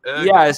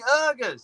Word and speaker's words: Uyghurs: Uyghurs. Yeah, I'm sorry if I'm mispronouncing it. You're not mispronouncing it. It's just a language difference.